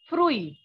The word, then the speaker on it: fruit: So as you can see, fruit, although the spelling is same as in English, but the pronunciation is fruit.